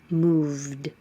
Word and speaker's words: moved: The final sound is v, is voiced. So if your voice is on, leave it on, and it's a voiced D. Moved.